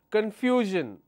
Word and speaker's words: confusion: Confusion. Let me change the color. How many syllables? Confusion. This is my word ending. The second last syllable is FU. So I will stress on confusion.